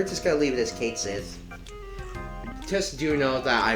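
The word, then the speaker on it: Cait Sith: like again i might just leave it as kate says because i don't think it's actually might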